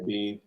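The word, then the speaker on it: Biehn: Bean? Bean.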